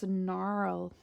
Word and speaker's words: Gnarl: reads oh jings and here's miss narl we've got a silent letter there miss narl silent letter this tall broad vet